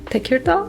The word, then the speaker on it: Tekirdağ: So, as I asked you, you mentioned that you are from Tekirdağ. Yeah. Do I pronounce it right?